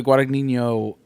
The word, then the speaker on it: Guadagnino: That underneath the tennis court shot, Luca Guadagnino wanted to do that for.